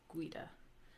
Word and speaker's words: guida: So, like the UI in guida, it's pronounced like a W. So you have guida.